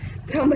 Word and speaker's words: ध्रम: ध्रम रहसी रहसी धरा, है ना, खपजासी खुरसाण। तो ध्रम है वहां, धर्म नहीं है।